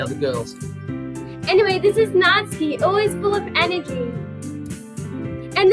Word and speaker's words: Natsuki: We call her Natsuki. Oh, do we? It's Oh, it actually says- pronounced Natsuki.